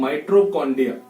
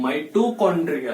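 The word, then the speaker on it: mitochondria: सबसे ज्यादा बच्चों की पहली बात तो इसकी प्रोनाउंस गलत करते हैं वो लोग। इसे क्या पढ़ते हैं वो लोग? पढ़ते हैं माइट्रोकॉन्ड्रिया। भैया ये माइट्रोकॉन्ड्रिया नहीं है, ये क्या है? माइटोकॉन्ड्रिया है।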